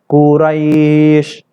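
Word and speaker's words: قريش: sini seharusnya bacanya Kuraisin tulisannya Kuraisin tapi kita baca Quraisy jadi jangan lagi setelah ini ada membaca surat Alquran surat Quraisy ini masih aja liila fiquraisin salah Hai harus kita bunyikan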